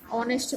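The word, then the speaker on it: honest: ये एच क्योंकि साइलेंट है तो इसलिए आर में भी एन लगेगा और यहाँ पर ऑनेस्ट में भी, क्योंकि इसे हम क्या पढ़ेंगे ऑनेस्ट पढ़ेंगे, इसलिए यहाँ पर एन लगेगा।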